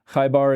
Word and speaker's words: Khaybar: And I'm wondering if you can comment a little bit on the Battle of Khaybar and the treaty or the covenant that was made with the Qurayshi people. Am I pronouncing Khaybar and Qurayshi correctly?